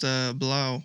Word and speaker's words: Blau: It's German so it's pronounced Blau.